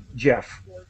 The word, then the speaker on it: Geoff: I'm Canadian and so my parents picked the uh British spelling for Jeffrey but it's exactly the same well I'm I'm I